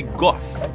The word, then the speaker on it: GOS: O objeto tem um apelido de GOS, pronuncia-se gost.